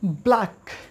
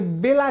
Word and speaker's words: Black: দেখি পাঁচ নম্বরে রয়েছে ব্ল্যাক ব্ল্যাক মানে কি কালো তোমরা দেখবে যে অনেকে এটাকে বেলাক বলে বেলাক বেলাক হ্যাঁ আমাকে বেলাক কালারের মিষ্টি দাও please give me a black color, black color dessert.